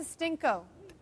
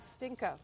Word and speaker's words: stinco: now attach to the I'm sure it's pronounced a different way than that a stinco stinco stinco a stinco a stinco okay what I've done here